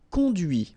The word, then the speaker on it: conduits: camions que tu as conduits, okay? You will have this S, you don't pronounce it, but it will be here. Now, the feminine.